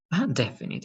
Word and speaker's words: definite: is going to be definite definitely definite i have the last is an e right so but the e is silent that's why it's only